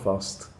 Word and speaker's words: fussed: Another expression that we use this is, I'm not fussed. Fussed. It's an ED, but it's pronounced bust, with that T sound, bust.